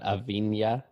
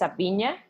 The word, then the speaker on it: Avina: fine yes that's correct it's not a B Mia it is actually well in Spanish it's a Pina and you are the